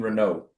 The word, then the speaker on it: Renaud: Maxime Renault. You don't pronounce the D.